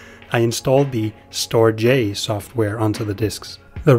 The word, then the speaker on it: StorJ: storage software it's called storage J are you kidding me no watch this I was wrong the official name is pronounced store J you heard it here first folks store J is the way to